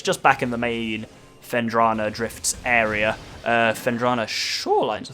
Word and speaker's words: Phendrana: I always call it Phenandra Drifts. And then I actually sat down and read it. I'm like, wait a minute, I'm wrong.